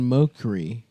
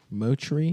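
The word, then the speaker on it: Mochrie: Colin Mokry. Motry?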